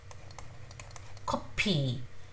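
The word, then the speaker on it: 커피: If you put your hand in front of your mouth, you can feel the air.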